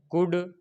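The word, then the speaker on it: could: एल आ गया है तो एल क्या होगा, साइलेंट हो जाएगा। इसको हम ऐसे पढ़ेंगे, शुड, कुड, वुड। इसको शुल्ड, कुल्ड, वुल्ड ये नहीं पढ़ेंगे।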